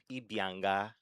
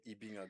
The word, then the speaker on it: Ibianga: No, you didn't. It's actually Ibinga Ibingo. Ibinga. Ibinga.